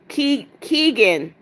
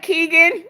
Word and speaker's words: Keegan: said, "This is how you say my name." Keegan. Oh, all right. Keegan, I was really off, wasn't I?